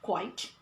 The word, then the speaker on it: quite: are trying to say quite quiet okay so this is quite and then she tried to imitate me by saying so this is quite and this is quiet and this quiet here means very very and this is quiet meaning silent silent then we made mention